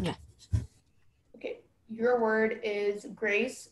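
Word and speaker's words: graisse: Okay, your word is grace. It's a homonym, so I'm gonna give you all the information. The only pronunciation is grace.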